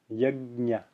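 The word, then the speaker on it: yajña: Yajna. Yajna. Yajna. Notice how my teeth are coming fully close together when I do that. Yajna. Yajna. So that's how to pronounce that conjunction.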